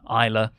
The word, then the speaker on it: Isla: Really pleased for Piper, S is silent, Isla, and especially Kaylee Ray.